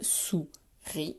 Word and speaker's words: souris: Une, mot de la tortue, et souris, 2 syllabes, souris, et j'oublie pas le S qui est muet à la fin.